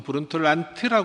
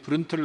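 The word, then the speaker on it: Brundtland: 란 보고서 아 뭐 인터넷에는 보통 브랜트 엘란트라 고대 있을텐데 그냥 노르웨이 위해서는 부른 틀 아니 맞는 발음 일 겁니다 그래서 그런 털난 보고사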